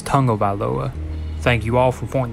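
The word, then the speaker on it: Tagovailoa: gonna say it correctly it's not tackled by Loa it's tango by Loa thank you all for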